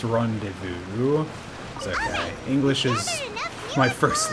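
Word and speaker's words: rendezvous: wrong the first time it's not randus it's Rondevu okay English is my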